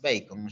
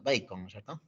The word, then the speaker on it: Bacon: sería el señor Francis bacon AC su apellido bac pero se pronuncia bacon cierto mu bien er un economista inglés Tenemos que hablar en inglés bacon listo muy bien pasamos